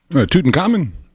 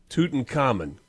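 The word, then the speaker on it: Tutankhamun: Toten common. Tooten Common.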